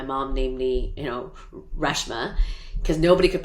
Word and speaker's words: Reshma: irritated to be like reshma it's a freshman without the f and the n uh but you know